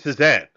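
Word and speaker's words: Cézanne: The artist is named Sesan.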